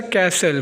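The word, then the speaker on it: castle: इसी तरह नेक्स्ट लेफ्ट्स है कैसल। कैसल में टी साइलेंट है और थंब में हमारे पास बी साइलेंट है।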